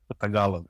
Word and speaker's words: Tagalog: I've seen it written, but I don't know how to pronounce it correctly. Tagalog.